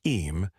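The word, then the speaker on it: Eyam: Although this happened later, in Sixia, the story of Ayam, pronounced Eam, is the perfect distillation of the spirit of the plague years.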